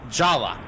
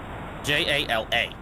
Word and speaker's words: Jala: a legal oopsie, but the pronunciation remains the way it was originally spelled when this game released. Jala. J A L A.